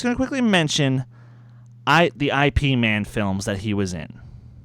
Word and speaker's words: Ip Man: Ip Man would be correct. I know it sounds weird, but it's the right pronunciation.